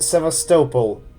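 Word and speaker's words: Sevastopol: uh the station uh and it should be pronounced sople not Castle why I know this because I'm Ukrainian and sopal is actually uh well it's part of Ukraine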